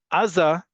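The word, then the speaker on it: עזה: as the fact that in modern Hebrew, the default is on the last syllable. Aza is how you would say it, not just like Gaza in Hebrew or Gaza in Arabic, but that's also to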